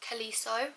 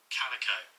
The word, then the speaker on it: Calico: So, she actually meets a captain um called Kaliso. I think that's his name. Hang on. Is that even how you pronounce it? Let me let me go on Google. Calico. You guys, I'm not even pronouncing it right.